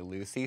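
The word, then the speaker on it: Loosey: Lucy spelled like she's not tight. Like L-O-O-S-E-Y is how she spells it.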